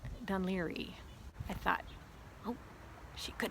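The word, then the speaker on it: Dún Laoghaire: what she means uh she pronounces it something like dune laughter and it's done leary i thought oh she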